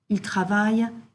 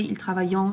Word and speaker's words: travaillent: Again, for the ils and elles form of the verbs, the ENT is pronounced E. Ils travaillent, ils finissent, ils attendent. Okay, so we're not hearing that ENT. Don't say ils travaillant, ils finissant, ils attendant, which is often what we hear.